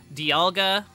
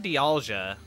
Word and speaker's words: Dialga: pronunciation uh Billy Bob like some people say um like Dialga Dialga die out there's something there's like Dialga Dialga I've never heard di alja that's an interesting one I don't think it's